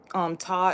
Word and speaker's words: Ptah: And Ta is also a creator of all or whatnot. So yeah, and it's spelled as Ptah.